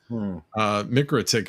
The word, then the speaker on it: MikroTik: I'm going to start pronouncing that correctly. Mikrotik video this week.